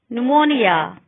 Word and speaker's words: pneumonia: Psychology, pterodactyl, pneumonia. PH is sometimes pronounced as telephone, alphabet.